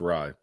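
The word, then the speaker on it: Rai: Thagala and Aaron Ray are at 40-1. So and he wins on the PGA Tour, and you still can't pronounce his last name right. It's Rye.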